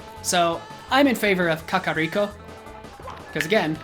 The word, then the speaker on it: Kakariko: Japanese as opposed to Kakaako which sounds very American and that's why I think it's wrong because it sounds stupid come on so I'm in favor of Kakariko because again sounds sounds